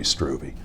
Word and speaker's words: Struve: your honor does but given my preference it' be stroovy what the heck said